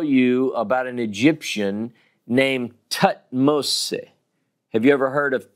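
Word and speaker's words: Thutmose: So, for instance, if I want to tell you about an Egyptian named Tutmose, have you ever heard of Tutmose? It's actually pronounced Tutmose.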